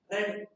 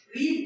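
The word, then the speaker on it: read: Novels are नॉट रेड बाय हर। रीड की third form जो होती है वो रीड ही होती है, बट प्रोनाउंसिएशन में थोड़ा सा चेंज होता है, रीड से वो रेड होता है।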